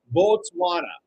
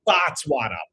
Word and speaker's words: Botswana: So, if you notice that there is an O there's an O in the middle of the name, right? So, it's it's not so it's not actually pronounced Bana. It's pronounced Bana. Botswana.